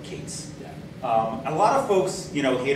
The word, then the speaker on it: K8s: K8S has the added benefit that you can actually pronounce it, so like Kates.